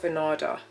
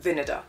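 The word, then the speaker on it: Vinader: I saw a reel on this it's not vard vinega vinega that's how you pronounce it Monica vinar earrings and they did a collab with Kate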